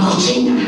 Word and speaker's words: cochina: Or, as my people say, I am a cochina. Those of you studying Spanish think I am a kitchen. But that is pronounced cocina. Cocina is filthy pig, cocina is kitchen.